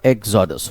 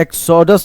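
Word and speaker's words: exodus: हालांकि उसका प्रोनाउंसिएशन बच्चे अलग है. एक्सोडस ने एक्सिडस होता है, एक्सिडस. ठीक है, रिमेंबर गाइस, उसका जो प्रोनाउंसिएशन है वो एक्सिडस है.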